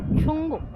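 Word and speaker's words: Tsomgo: আমরা ছাঙ্গু লেকে হাঁটতে হাঁটতে একদম সেই জায়গাটা এলাম যেখানে কিনা I love Changu lake, Changu লেখা। সঙ্গ সঙ্গ টি সাইলেন্ট, বাট আমরা এটা ছাঙ্গু বলি আমাদের বাঙালিদের। আর পেছনে আমাদের সূর্য উঠেছে, তো এইভাবে নিলে আমাদের পেছনে চলে আসবে আই লাভ সঙ্গ।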